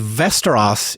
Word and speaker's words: Västerås: It kind of sounds like Westeros from Game of Thrones, but it's spelled differently and with a V and with lots of umlauts and things over the letters.